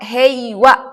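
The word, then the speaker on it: 平和: Dibacanya wa heiwa karena bertemu dengan kanji heiwa.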